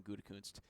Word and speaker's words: Gutekunst: Yeah, Brian Gutekunst.